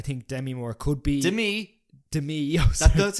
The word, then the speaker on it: Demi: I think Demi Moore could be Demi. That's how you pronounce her name.